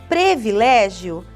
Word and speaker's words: privilégio: Privilégio, não, é com i.